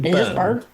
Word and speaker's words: Byrne: David Byrne. Why did I think that the E was pronounced?